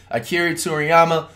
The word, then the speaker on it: Akira Toriyama: I didn't want to pronounce his name wrong. Akira Toriyama, rest in peace.